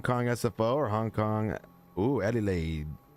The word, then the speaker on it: Adelaide: Adelaide. Sounds like you just make it. It's not hard to remember. You just say like I got laid. Eddie laid, you know, kind of sounds similar.